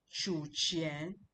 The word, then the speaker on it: 取钱: chu yin han, chu chu qian, chu chu qian. These two characters are QU in pinyin, but from my pronunciation you can see chu, the fourth tone, chu qian, collect money or withdraw money.